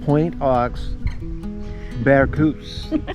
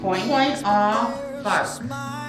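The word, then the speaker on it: Point aux Barques: Point off Bark. Oh, you were way off. I was way off. I was Barcu. I was trying to make it French.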